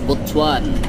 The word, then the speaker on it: Butuan: so Ako na bahala bwan City or bwan pronounced as botuan botuan Officially the city of botuan dakbayan sa